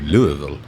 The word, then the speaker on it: Louisville: You got to say it like Elvis Presley, Louisville. Yeah, with the mouthful, kind of, you know.